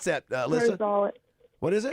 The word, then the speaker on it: Rosales: Alyssa Rosellas, is it Rosellas? How do you pronounce that, Alyssa? Rosales. What is it? It's Rosales.